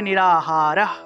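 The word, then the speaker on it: নিরাহারঃ: তারপরে নিরাহারাহ, এখান থেকে একটা বিসর্গ আছে, বিসর্গের উচ্চারণ হলো হ। তাহলে নিরাহারাহ, নিরাহারাহ, এখানে হসন্ত যুক্ত একটা হ উচ্চারণ হবে।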